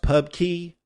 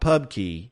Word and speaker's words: Pubky: carvallo's Pub KY core it's probably pronounced Pub Key but it is not actually spelled that way it's spelled p u